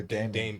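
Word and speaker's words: Daemon: Yeah, is it Damien or Damon? Damon. Damon. Okay, yeah.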